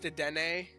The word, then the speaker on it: Dedenne: I know it's pronounced Dedenne, but I don't care.